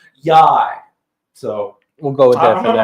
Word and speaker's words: YY: And then it's spelled YY, and the manager for the team basically said it rhymes with high, so I'm thinking it's Yai.